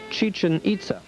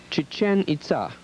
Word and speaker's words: Chichén: guided tour of Chichen most of us were pronouncing the site as chichin our guide corrected us he was fluent in Spanish English and the most common language of the area Mayan Chichen was correct the name is actually